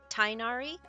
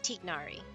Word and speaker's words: Tignari: the name comes from, and it's actually pronounced Tignari. It's like Tig. I can't even do it right. It's like a soft G, but hard enough to it's not like Tig or T.